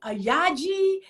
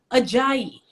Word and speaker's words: Ajayi: it off it and it literally is as it is spelled ajayi and i still get